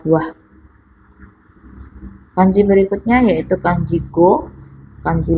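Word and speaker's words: 五: Untuk cara baca lainnya yaitu yotsu, yang artinya 4 buah. Kanji berikutnya yaitu kanji go, kanji 5, atau dibaca itsutsu, artinya 5 buah.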